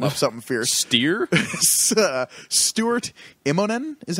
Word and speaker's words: Stuart Immonen: Stuart Immonen is how you say it? Stuart Immonen.